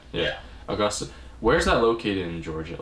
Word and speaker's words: Augusta: Is that how you pronounce it? Augusta. Yeah. Augusta.